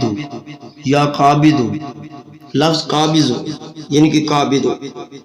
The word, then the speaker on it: قابض: یا قابض ہو، لفظ قابض ہو یعنی کہ قابض ہو، اس کو زوئے یعنی کہ زواد نہیں پڑھنا، داد پڑھنا ہے، عربی کا جو تلفظ